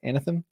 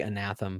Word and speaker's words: Anathem: Anathem? Yeah, I say Anathem. I used to say Anathema, but I don't know. I never know how to pronounce anything.